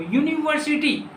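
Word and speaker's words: university: लेकिन आप ये प्रोनाउंसिएशन बोलिए इसको, यूनिवर्सिटी, क्या बोलते हैं आप, यूनिवर्सिटी। सर यूनिवर्सिटी बोलते हैं, यूनिवर्सिटी, यूनिवर्सिटी ना, यू यूनिवर्सिटी, यूनिवर्सिटी, यो आ रहा है ना बच्चों, यो आ रहा है, यो, तो देखो जी यो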